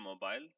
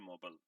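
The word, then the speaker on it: mobile: वो बताया तो मैंने ब्रिटिशर उसको प्रोनाउंस करते हैं मोबाइल और अमेरिकन उसको प्रोनाउंस करते हैं मोबल जी अच्छा जी ऐसी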